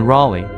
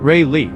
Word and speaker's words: Raleigh: some getting used to the pronunciation of Raleigh it's Raleigh not Ry the obsession with cheer